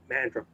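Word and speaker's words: Mandurah: Ah, so I'm um Mandra.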